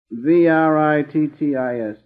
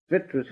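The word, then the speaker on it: vrittis: The waves in the mind stuff, called the vitrittis. I'd rather spell these Sanskrit words than try to pronounce them. Vitris, I should say.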